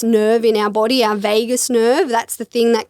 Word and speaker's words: vagus: Few reasons: same cells in the gut to the brain, our biggest nerve in our body, our vagus nerve.